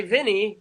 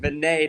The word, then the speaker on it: Vinay: But I used to say Vinny, and then Billy corrected me, or thought I'm glad we finally clarified this. Yep. And I do apologize for not pronouncing your name right.